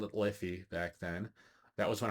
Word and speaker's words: Liffey: Um, it was constantly, the beer name was constantly mispronounced at Beer Fest. It was always Lifey, which I don't blame people.